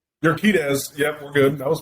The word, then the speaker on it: Urquidez: This is JP Yaquidez. Did I say it right? Urquidez.